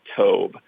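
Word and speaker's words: טוב: word good is is a word pronounced to and it's translated as good in our English Bibles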